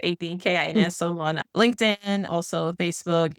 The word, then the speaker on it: Adkins: kids and my last name is spelled A D K I N. A lot of people see you in there, but it's a kin.